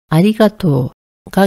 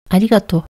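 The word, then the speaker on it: ありがとう: 나머지는 내가 할게 아리가또 이곳은 아리가또 원래 적혀서 발음이 장음이 되면서 아리가토가 기본형인데요 친한 사이에는 뒤에 우가 탈락되어서 조금 더 짧게 아리가또 이런 식으로 말할 때가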